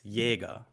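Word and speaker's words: Jäger: correct there um so listen carefully it's it's jaeger it's not like a burger the j is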